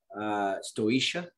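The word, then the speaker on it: Staoisha: Stoisha.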